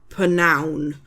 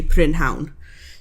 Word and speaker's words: prynhawn: So we kind of do the same with prynhawn. We would say pnown. So it's like pnown. Sharp, but it's not ridiculously long kind of thing. So we would say pnown, but it's spelt, and if you're going to speak proper Welsh, then you would say prynhawn.